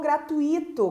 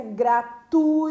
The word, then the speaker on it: gratuito: de barbarismo o gratuito quantas pessoas falam gratuito colocando esse acento no i' que não existe em qual a pronúncia correta gratuito né não tem acento a pronúncia gratuito e não gratuita Então seria chamado de